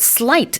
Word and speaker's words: sleight: But sleight is spelt S-L-E-I-G-H-T, not S-L-I-G-H-T, Yeah. although it's pronounced like that.